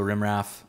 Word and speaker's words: rimraf: So it, the terminal command is rm-rf. And so if you just read it phonetically, it's rimraf.